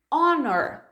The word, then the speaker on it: honor: House e também vai isso aqui com a pronúncia da primeira vogal por exemplo Hauer Hauer a Warner Honor quando começar então com som de vogal você